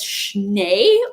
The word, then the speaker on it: Schnee: It's Schnee. German for snow.